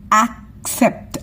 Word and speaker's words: accept: Next ஆக்செப்ட், ஆக்செப்ட், ஆக்செப்ட், ஆக்செப்ட். ஈயோட sound ஏ. இஸ்ஸா மாறிடுது, ஈ இருக்கிறதுனால இஸ்ஸா மாறிடுது. இங்கேயும் ஈ இருக்கிறதுனால இஸ். ஆக்சஸ், ஆக்செப்ட். accent இருக்கிறதுனால இஸ் accent.